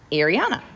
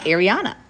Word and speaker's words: Ariana: I'm like how do you how do you pronounce it and she's like Ariana Kyra Ariana I was like how do you spell Kyra